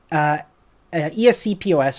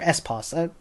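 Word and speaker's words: ESC/POS: use a protocol called ESC POS or s pause people pronounce it differently they provide a 40-ish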